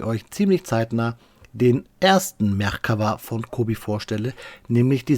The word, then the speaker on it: Merkava: Speedbild-Zeit ist Faktenzeit und natürlich sprechen wir heute über den Merkava. So heißt der Panzer nämlich richtig, so wird er originär ausgesprochen.